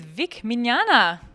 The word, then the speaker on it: Vic Mignogna: And I'm here with Vic Mignogna.